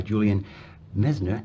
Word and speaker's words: Julian Messner: And the book, That Certain Something, The Magic of Charm, published by Julian Messner and Company. Yes, Did I pronounce that right?